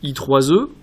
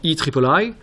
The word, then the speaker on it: IEEE: electrical and electronics engineers dit aussi y 3 e se prononce également y tripoli est un regroupement mondial